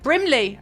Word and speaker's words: Brimley: Thank you, Jane Brinley. Brimley, I keep getting his name wrong.